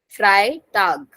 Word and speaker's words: Freitag: So Fry is similar. Freitag.